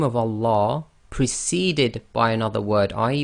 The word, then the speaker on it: Allah: So the sound you're actually going to get on the Lam is La, as in the English word lamb.